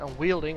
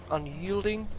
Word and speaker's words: unyielding: I always pronounce it unwielding. I know it's not unwielding, and I hope unyielding, that's how you pronounce that thing.